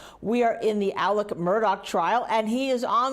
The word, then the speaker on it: Murdaugh: we are hot in the case of Alec Murdoch and by the way that's how he pronounced his name when he was on the